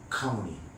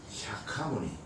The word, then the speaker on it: 샤카무니: 그럼 원래 한자로 음력해하고 석가모니지만은 원래 산스크리트 원래 언어는 샤카무니. 그러면 아까 얘기했죠? 종자에 싹 더하기 어무이. 그걸 붙여서 발음해봐요. 샤카무니.